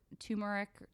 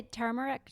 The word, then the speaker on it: turmeric: soy beans spices like turmeric or tumeric how do you say it Lori Tamera I say turmeric turmeric turmeric I think I usually say but I hear people say tumeric everyone pronounces it differently so I probably pronounce